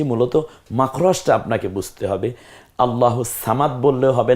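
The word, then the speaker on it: اللَّهُ الصَّمَدُ: যে হরফটা দেখতে পাচ্ছি এটার নাম হচ্ছে সদ আল্লাহুস সামাদ বলুন তো একটু আমার সাথে আল্লাহুস সামাদ আমি তিনটা বলি দেখি তো তিনটা উচ্চারণ করব আপনি কোনটা সওয়াব দিয়ে বলেছি আপনি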